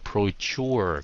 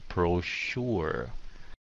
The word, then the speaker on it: brochure: phát âm nó nha không phải là procure cái nó là prosure Mina nói ý là